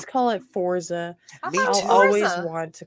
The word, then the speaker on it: Forza: Year Edition get it it's American pronunciation is Forza um according to the